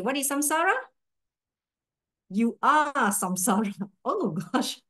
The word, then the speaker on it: samsara: I always thought it's samsara, but I heard Goshila say it should be samsara. It should S-A-N, right? We heard him saying, but in many books, even in the class notes and all these things, it's spelled as S-A-M-S-A-R-A.